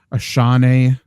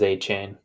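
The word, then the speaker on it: Achane: too I'm lower on a Shawnee how do you say it Trevor how's the correct and I just looked it up it is a chain although Ashanti sounds cooler it's like Ashante for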